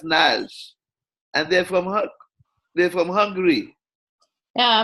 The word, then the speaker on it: Nagy: Their name was Nash, and it is spelled Nagy, Nagy. And they said to me it was pronounced Nash.